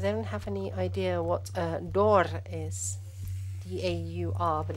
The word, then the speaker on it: daur: So we've gotten anyone does anyone have any idea what daur is? D-A-U-R, but it's pronounced daur.